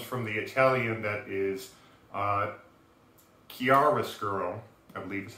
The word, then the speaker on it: chiaroscuro: Now, his name, Rascuro, comes from the Italian that is chiaroscuro, I believe is how it's pronounced.